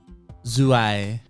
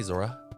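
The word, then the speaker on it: Zouaï: I've listened to a video of her say it. I'm pretty sure that's how you say it. Zuai. Okay, because there's times where I just want to say Zora.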